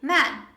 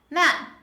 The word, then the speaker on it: man: attention to the pronunciation when you want to say this noun in singular we say man man this is a butterfly sound a man man try with me